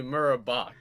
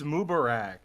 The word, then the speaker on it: Mubarak: Actually, Murabak. Am I? It's Mubarak, dude.